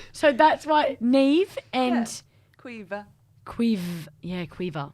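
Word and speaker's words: Niamh: Niam. Yeah. Neve, yeah.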